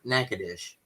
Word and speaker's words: Natchitoches: And if you were in Louisiana, the town name is spelled exactly the same, but they call it Natchitoches.